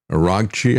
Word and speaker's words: Araghchi: As a matter of fact, the um uh the foreign minister of Iran, Araghchi, I think is the way you pronounce his name, uh speaking in France, he